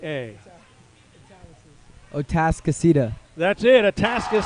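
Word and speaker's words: Atascocita: a s c o c i t a o task aceta that's it a task is seeded was there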